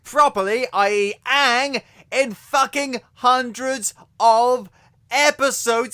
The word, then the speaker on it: Aang: They call him Aang Instead of Aang. Now, I can understand why they'd think it was pronounced Aang, because it's two A's and G.